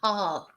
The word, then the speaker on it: heart: So in English is heart. Remember, in English, en inglés, tenemos que pronunciar la H, heart. Pero en español, claro, no pronunciamos el H, pero en inglés sí.